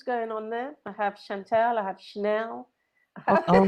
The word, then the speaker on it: Shantelle: Chantel.